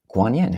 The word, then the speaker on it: Guanyin: So, what is Guanyin? Who is Guanyin? Um so, Guanyin is the Chinese pronunciation of Avalokiteshvara. Um Guanyin is the shortened form. Uh it's the Chinese words. Um Guanyin, both first tone.